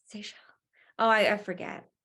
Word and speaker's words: Seychelles: One of the best I ever did was that's the one in, I don't know how to pronounce this wrong, Sechel? Sunshine Coast, that's It's Seychelles.